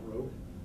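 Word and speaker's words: rho: And then the density of steel is 7700 kilogram per cubic me and the representation is row. Is that what that's So what is that syllable here?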